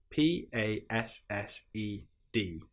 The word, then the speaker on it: passed: Sometimes it's pronounced like a normal du sound, but sometimes it's pronounced like a t sound.